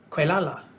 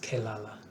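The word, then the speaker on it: Quelala: he grew to manhood quala as he was called it's probably pronounced kalala quala kalala that's an odd little spelling but since this is a children's book it's probably pronounced phonetically so quala I'll call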